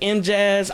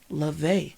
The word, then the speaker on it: Luvé: I said M Jazz. I thought that was unique. I liked it. And then I told everybody, yeah, this is Miss Love. Butchered that. It is Luvé.